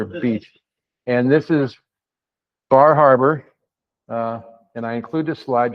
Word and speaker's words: Bar Harbor: And this is Bar Harbor. And I include this slide just because I like to say Bahaba, because that's what they call it.